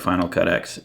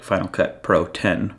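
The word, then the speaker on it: Final Cut Pro X: that with something like Final Cut X is like Final Cut Pro 10 apparently according to Matt Miller I'm supposed to say it like that if that makes sense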